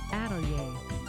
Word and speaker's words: atelier: Atelier.